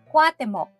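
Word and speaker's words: Cuauhtémoc: temo kuya't ate kutok Actually ang tamang bigkas daw ay kwat mok kwat mok din ang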